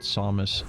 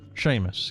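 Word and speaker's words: Seamus: You lulled when internet historian called Samus. Samus samus. How the hell do you pronounce the Irish name? Samus. Sam Sheamus. She Sheamus. Oh, I don't remember. Sheamus.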